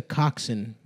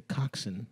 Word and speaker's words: coxswain: myself no that's a Coxon Adam a coxswain I think it's a Coxon maybe it's pronounced Coxon but it's co x SW AI n right yeah yeah I